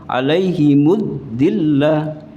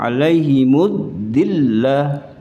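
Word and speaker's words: الذلة: Ini wa duribat 'alaihimud dillah. Ini masuk semua. 'Alaihimud dillah. Jangan sampai tasjidnya ditinggalkan. Masuk semua. 'Alaihimud dillah.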